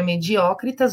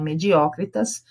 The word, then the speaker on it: mediocritas: Áurea mediocritas ou mediocritas, tanto faz, tá? Mas a pronúncia latina é mediocritas, que é o equilíbrio de ouro.